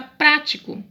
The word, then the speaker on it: prático: duas palavras têm o que a antepenúltima sílaba mais forte e elas são acentuadas